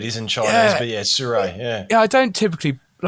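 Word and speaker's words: Sirui: Is it not Siriu? It's Sirie. It's Surrey. Yeah, Surrey. the Chinese. Okay. It's a Chinese. I forget what word it is in Chinese, but yeah, Surrey.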